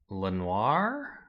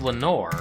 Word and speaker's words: Lenore: Lenoir? Oh. Is that in, I know Edgar Allan Poe talks about Lenoir. Actually, I don't know how you spell it. Oh, it's Lenore, right?